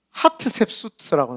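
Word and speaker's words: ハトシェプスト: 물에다가 띄웠을 때에, 그때에 하셉수트라고 하는 공주가, 하셉수트라고 하는, 이걸 뭐 핫이에요. HOT예요. 근데 이거 한글로 찾으면은 이게 뭐야, 하트셉수트라고 나오더라고요. 근데 저는 하셉수트라고 이렇게 발음을 하도록 하겠습니다.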